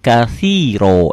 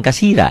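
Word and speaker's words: كثيرا: Allahu akbar kabiro walhamdulillahi katsiro. Jangan kasira ya, ganti dengan o.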